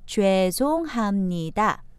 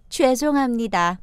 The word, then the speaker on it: 죄송합니다: And then 죄송합니다. 죄송합니다. More naturally, 죄송합니다.